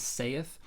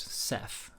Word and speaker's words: saith: s a i as sath but it was actually just pronounced Seth just like the word said with a th instead of a d and in the morning